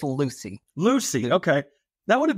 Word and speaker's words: Lewsey: sure I didn't butcher it yeah it's it's Lucy Lucy okay that would have been easy could have like Lucy Lucy Ball like Lucy I got you okay